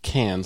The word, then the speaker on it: Cairns: but it's like Cannes, like France, like the Cannes.